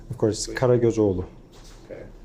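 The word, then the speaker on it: Karagözoğlu: Can you give us a pronunciation of your name? Of course, please? Karagozoglu. Okay. It's very easy. Could you do it one more time? It's Karagozoglu.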